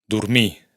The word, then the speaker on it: dormir: Para empezar, la R final no se pronuncia en los infinitivos verbales.